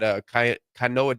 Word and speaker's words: Keona: And then we had Kanoa Davis. Is that how you say his name? Yeah, Keona Davis.